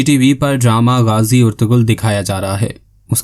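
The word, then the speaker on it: Ertuğrul: نام مشہور ہو گیا۔ ترک لب و لہجے میں البتہ کردار اس نام کو ارطغرل کہتے ہیں، بلکہ بعض اوقات تو اس انداز سے کہ ارطرو سنائی دیتا ہے، آخر میں ہلکا سا لام کا اشارہ۔ پچھلی والی اردو ڈبنگ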